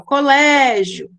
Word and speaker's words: colégio: Elas têm a penúltima sílaba mais forte, ó. Colégio, né? Se estende o lé. Polícia, o li se estende. Então, essas sílabas são as mais fortes.